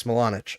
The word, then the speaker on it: Smilanic: To be honest, the proper way to pronounce the IC in Smilanic is the same. Okay, same as Buchnevich, so it's Smilanic.